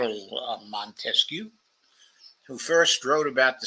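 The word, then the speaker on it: Montesquieu: philosophers uh Charles Montes I should give the French pronunciation Char manescu who first wrote about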